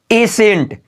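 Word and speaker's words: ascent: देखिए क्या बोला की एस के बाद आया सी हमारा साइलेंट होता है सी देखिए जैसे मैं यहां पर है ए सेंट क्या बोलेंगे एसेंट याद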